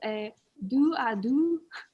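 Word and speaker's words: dos-à-dos: of tonight's activity um it is a do a do i sound very french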